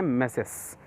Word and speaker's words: tmesis: जी हाँ, इसको TMESIS लिखा है लेकिन प्रोनाउंस करते हैं मैसेस।